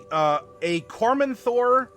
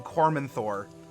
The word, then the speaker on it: Cormanthor: I forget the exact goings-on in Cormanthor that would flavor it, but we'll find out in that document. Or I think it's Cormanthor, not Cormanthor. The emphasis on the syllable.